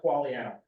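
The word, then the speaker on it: Quagliano: thank you would you state your name and spell it for the record please qualan l u c a q u a g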